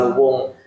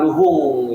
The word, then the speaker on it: Luhung: daerah Luwung gitu, Desa Luwung. Tapi nama aslinya sih bukan Luwung, ternyata Luhung gitu dari bahasa Sunda itu pronunciation lah.